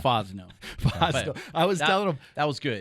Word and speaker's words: Fosnaugh: Fosnaugh. Fosnaugh. I was telling him that was good. That probably gets butchered all the time.